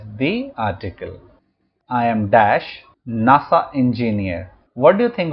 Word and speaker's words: NASA: not said an as NASA is pronounced as a word and not as a series of letters so we will have a NASA engineer and not an